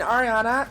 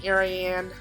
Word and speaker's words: Ariana: what my name means growing up people will call me ariane orion aryan i wasn't a fan